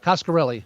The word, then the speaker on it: Coscarelli: Coscarelli. There's no Italian. There's no Italian edge on that, right?